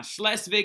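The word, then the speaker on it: Schleswig: second slesvig war okay now slesvig is how you say these provinces right and it's actually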